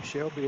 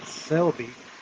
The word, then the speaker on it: Selby: that we blue white Jim Shelby is Selby Jim I'm do your name wrong every single time it's Jim Selby says it's 94 and